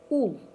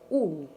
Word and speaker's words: ул: Ул. Ул. Мы произносится так.